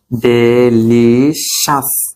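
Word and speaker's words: delicious: ই এল আই সি আই ও ইউ এস ডেইলিশাস সি আউস না daily শাস হবে ঠিক আছে ও এস এর উচ্চারণ কি হবে আসবে হবে ডেলি শ্বাস ডেরি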